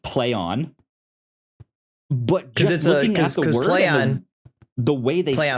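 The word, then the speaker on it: Plaion: have gotten out and said it's pronounced play on but the way they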